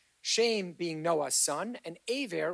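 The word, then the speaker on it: עבר: Shem being Noah's son, and Aver, or Eber, as you guys tend to pronounce it, is the great grandson of Noah.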